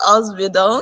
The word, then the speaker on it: Ausbildung: told me about Germany, about a program called Ausbildung. Did I pronounce that well? Ausbildung.